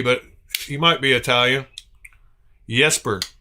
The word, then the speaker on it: Jesper: Yesper. Okay. Yesper. Thank you, drummer. I'm I'm still going to call him Jesper, I'm sure. like jester, you know, because that's how any American would pronounce it if they just read it for the first time.